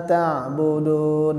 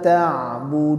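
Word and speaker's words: تَعْبُدُونَ: Nah, yang terakhir juga huruf nun di ayat kedua, huruf tipis sehingga kita harus mensenyumkan ya. Budun. Ya, jangan budun. Nah, beda dia sama budun. Ya, jadi dia tipis. Berbeda kita membacanya budun. Ya, jadi tebal ya nunnya. Tapi kalau kita senyumkan bibir kita, la a'budu ma ta'budun. Ya. Coba Bapak-bapak, la a'budu ma ta'budun. Ya. Ya, disenyumkan ya.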